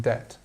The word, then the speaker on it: debt: quo and risk obsolescence just be aware of this silent B here in debt it's one thing that's